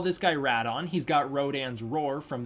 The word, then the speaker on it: Rodan: i'm going to call rat on right because that's kind of the other pronunciation for rodan i'm going to call him radon because there's a distinction